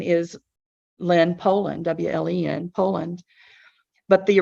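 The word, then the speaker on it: Wleń: So it's spelled differently, pronounced the same.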